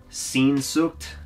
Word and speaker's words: Sehnsucht: I want to say it's pronounced... Sehnsucht.